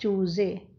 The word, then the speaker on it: चूज़े: जय में नुक्ता है चूज़े, है ना।